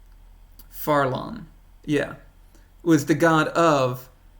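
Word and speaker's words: Fharlanghn: I know how to pronounce this, but I always get it wrong. Farlon.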